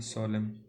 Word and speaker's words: solemn: और बिसाइड तो in addition, हाँ एक ये रखना आप याद, सोलेम, SOLEMN, एन साइलेंट होता है इसमें।